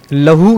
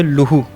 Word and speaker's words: لہو: ہے اس کا۔ اچھا، ایک اور لفظ ہے جو ہمارے ہاں عام طور پر غلط العوام ہو چکا ہے، لہو اس کو عام طور پر پڑھتے ہیں، جبکہ صحیح اس کا تلفظ ہے وہ ہے لہو، لام پر پیش ہے۔ اور اسی طرح